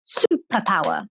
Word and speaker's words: superpower: word have superpower superpower where's the stress superpower the stress is on the first syllable excellent students so you're